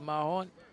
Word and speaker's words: Mahon: Josh Mahon. I think that's how you say it. Thought it was Maine, but it's Mahon.